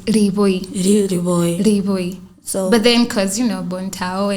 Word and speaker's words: Liboi: But then Liboi, we usually pronounce it Liboi.